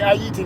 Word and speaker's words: Ayiti: the beach in in Aayiti in Haiti. Okay, you hear me say Aayiti? That's how you really pronounce it.